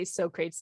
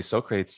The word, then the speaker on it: Socrates: i would like sometimes say sokrate's deliberately wrong because we just thought it was really funny and it helped you remember how to spell the name i mean honestly socrates is a perfectly promulent way to pronounce that name in english it's a perfectly cromulate